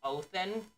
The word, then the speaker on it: Odin: that there we go the name Odin is more Loosely pronounced oathin Austin oathin oathin like taking an oath I take an oath